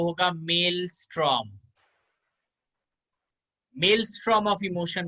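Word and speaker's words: Maelstrom: इसका जो प्रोनाउंसिएशन होगा वो होगा मेल स्ट्रॉम।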